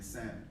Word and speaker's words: salmon: think that should be $1 because the L is silent in salmon. It is. Supposed to be salmon.